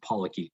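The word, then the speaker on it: polychaete: e t e um i'm pretty sure it's pronounced pollocky but uh they are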